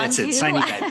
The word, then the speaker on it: sine die: sine die, that's what it is. Okay, so sine die, has it been officially stated by either the speaker or the Senate Majority Leader?